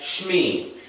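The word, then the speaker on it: שמי: name um i would say my name as shmee which is a contraction of shem and ani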